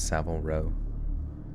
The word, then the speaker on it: Savile Row: Savile Row looking suit that's how you say it's Savile Row look crispy it's probably